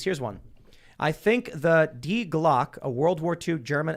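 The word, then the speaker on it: Die Glocke: I think the Die Glock, a World War II German attempt at an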